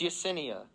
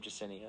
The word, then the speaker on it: Yesenia: for jacenya and mj it's yesenia jacenia yesenia yeah but but what's her face katie pronounced her who was it that she's feuding with i'm sorry i'm mj pronounced her name jacinia i think it was